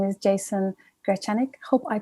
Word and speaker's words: Grechanik: the peruvian amazon and his name is jason gracianic hope i pronounced it well jason i'm sure you will